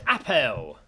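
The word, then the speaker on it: Apel: oh this is good it's Apple you're right it's Apple this is good it's spelled different georgel that's how it's spelled but then but then I read the last words and it made sense okay okay uh George Apple but not spelled Apple it's spelled yeah it's spelled a p e l last words well gentlemen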